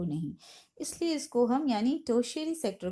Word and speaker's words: tertiary: टर्टरी sector, टर्टरी sector या टर्शियरी sector, इसको ज़्यादा सही होगा प्रोनाउंस करना, कि आप इसको बोल सकते हो टर्शियरी सेक्टर।